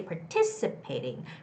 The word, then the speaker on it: participating: how to stay participating participating ti there's the stress on the first ti part i so it's participating don't say participating because par doesn't have the stress so it's going to be more like participating participating participating okay you always get am